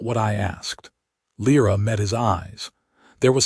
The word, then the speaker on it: Lira: Not Lira, the way most humans said it, flattening the vowels, but Lira, with the slight guttural stop in the middle that Orcish required.